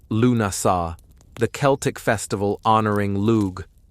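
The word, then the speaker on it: Lughnasadh: Lugnasad, pronounced Lunasa, the Celtic festival honoring Lug, the god of light, craftsmanship, and war.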